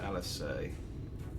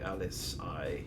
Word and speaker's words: Alisaie: They pronounce it Alisaie. Alisaie would be Alice-I. Oh, okay. I'm guessing it's a French name.